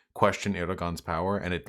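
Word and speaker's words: Erdoğan: So to clarify, it's not Erdogan, it's Erdogan. Have I been fucking that up? You pronounce G's like Y's if I recall correctly.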